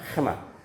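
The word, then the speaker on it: חמאה: 해마. 이게 좀 히브리어는 발음하기 힘들어요. 그냥 그 히브리식으로 하자면 해마요. 해마. 왜냐 앞에는 헤트고 뒤에는 해고 그다음 요 두 번째 나오는 이 슈바는 발음하지 않아요.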